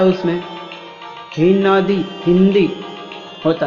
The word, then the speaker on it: हिंदी: लेकिन उच्चारण हिंदी होता है। न का भी उच्चार आता है उसमें, हिंदी, हिंदी होता है।